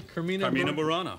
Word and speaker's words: Carmina Burana: Did I pronounce this correctly? Carmina Burana.